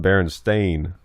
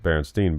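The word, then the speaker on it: Berenstain: no it no it's that um it's actually pronounced Baron stain Bears it's that's how it's spelled and people thought it was just Baron Steen Bears which that's how we always said it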